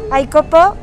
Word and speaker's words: Icopau: Estamos en Facebook, así la marca se llama Icopo, se escribe Icopau, y también estamos en las veterinarias de aquí de Querétaro.